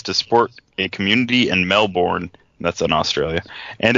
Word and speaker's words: Melbourne: Yeah, it's pronounced Melbourne.